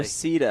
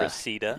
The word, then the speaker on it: Reseda: Reseda. Reseda.